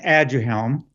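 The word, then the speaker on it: Aduhelm: if i pronounce it incorrectly but is it a do helm and why are many physicians against its use sure yeah well it's pronounced ad your helm yeah the background is that um alzheimer's disease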